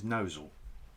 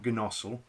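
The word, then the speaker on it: Gnosall: Or no, I think the proper pronunciation is Nosal. Is it? Yeah. Okay. Nosal. I could be wrong. I stand corrected. Comments below. Phonetic spellings, please. Yeah. Yeah. And then I know it's definitely not Gnossel.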